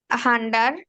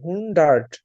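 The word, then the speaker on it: hundert: এটা 4000 4000 জেক্স হান্ডার হান্ডার না হুন্ডার্ড হুন্ডার হুন্ডার্ড হুন্ডার্ট এই দেখেন উচ্চারণটা দেখি এইচ ইউ এন হুন এইচ ইউ এন হুন্ড ডি আর ডি ই আর টি হুন্ডার্ট হুন্ডার্ট হ্যাঁ তারপরে তারপর হচ্ছে আর্ট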